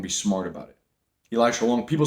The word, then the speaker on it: Elisha: Elisha Long. People say my name wrong. Guys, by the way, my name's not Elisha. It's not Elijah. It's Elisha.